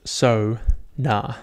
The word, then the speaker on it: sauna: goku vegeta the boys anyway history of the sauna sauna correctly pronounced so na so sona it's sauna sauna sauna is the